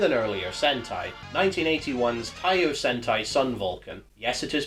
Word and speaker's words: Sun Vulcan: similar thing with an earlier Sentai 1981's taosenai Sun Vulcan yes it is pronounced like that stanlee could not find any